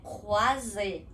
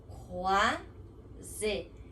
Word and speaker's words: croisé: Então é croisé, croisé, com essa garganta arranhando nesse CR, croisé.